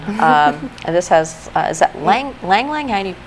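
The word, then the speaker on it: ylang-ylang: this has is that ylang ylang any is that how you pronounce that Yang Yang the way the French say it is oh well I've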